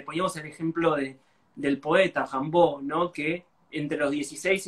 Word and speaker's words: Rimbaud: Sí, yo me mando la parte haciéndome el pretencioso, digo, Rimbaud, que es la manera, se supone, correcta, creo yo, de pronunciarlo en francés.